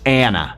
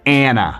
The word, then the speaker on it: Ana: en inglés se pronuncia Anna. Entonces vas a escuchar que la A en inglés, sobre todo en inglés americano, se pronuncia como un Anna, Anna.